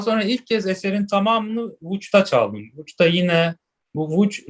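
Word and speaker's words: Łódź: Daha sonra ilk kez eserin tamamını Vuç'ta çaldım. Vuç'ta yine bu Vuç Lodz aslında. Lodz şehri Vuç diye okunuyor Lehçe'de. Çok enteresan bir dil. Bütün harfler değişik okunuyor. Herkes Lodz diyor Türkiye'de ama aslında Vuç diye okunuyor.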